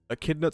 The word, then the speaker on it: Echidna: Oh my god, I keep forgetting the N. Like, Echidna. let's see. Fucking Echidna's season 2 videos were getting like 150 to 300,000 views. Mm-hmm. Echidna's season 3 videos are not cracking 100k.